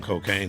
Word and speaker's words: Kokane: H love controversy right and um the name cocaine is the most controversial name ever in the